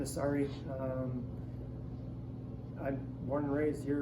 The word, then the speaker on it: Saari: name is Sari. I'm born and raised here in Wausau, Wisconsin. And then so you I'm spell that Stephen for us, Shane.